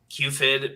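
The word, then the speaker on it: Q5ID: My guess, and this is my guess is that QFID probably is the one, and that's the Q5 ID, but you pronounce it QFID.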